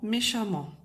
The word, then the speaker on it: méchamment: m mentt donc et dans les deux cas on prononce amant d'accord donc méchant qui se termine par an NT donc an se se transforme en a 2 e nt méchant méchamment impatient qui se termine